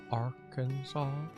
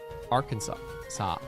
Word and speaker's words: Arkansas: The last S is silent? Arkansas. Arkansas.